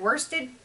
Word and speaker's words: worsted: to say it right cuz everyone points out you say worst like in my head it SS like worsted just like Shaw has